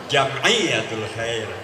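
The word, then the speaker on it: جمعية الخير: Kalau tulisannya begitu maka dibacanya bukan Jamiatul Khair, Jamiatul Khair.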